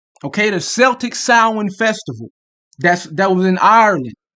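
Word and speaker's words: Samhain: which is uh originates from the Celtic uh sin it's it's it's it's spelled Sam Hayne but it's pronounced s okay the Celtic sin Festival that's that was in Ireland okay Ireland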